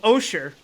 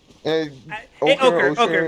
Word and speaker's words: ochre: Osher. I know, sure. Ochre? Ochre. It's It's ochre. I think it's ochre. Because it's spelled the in two different color of ways.